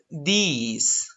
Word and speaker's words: these: regarding to this war you pronounce these okay it's a e it's a long e these these you have